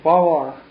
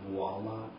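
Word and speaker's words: voilà: You said voila instead of voila? No. Voila. No, it's voila. Voila? Voila? Voila. Voila. You use a V, but it's pronounced almost like a W.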